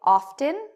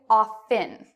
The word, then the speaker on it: often: ways some people say often that's that's good other people say often with a silent T both ways are acceptable okay both ways are